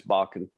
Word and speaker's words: Bakken: white band tom jones rebecca bockett bakken or bacon how do you pronounce that it's bakken rebecca bakken who's a very successful uh norwegian